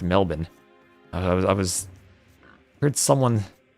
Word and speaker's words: Melbourne: It's pronounced Canberra, the same way Melbourne is pronounced Melbourne.